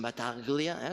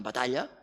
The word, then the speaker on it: Batalla: Amore, que pot ser amor, Antonelli, que pot ser Antonell, Batalla, que no pronunciem Bataglia, sinó Batalla, Xavier Batalla, o Bataller, Calafato, Calafat, Castelletti, aquest encara podria ser Castell, Castellet, no?